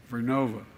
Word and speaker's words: Vernova: I mispronounced it. Vernova in Florida, New York.